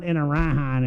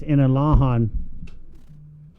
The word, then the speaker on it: Inalahan: It's not Inarahan, it's Inalahan.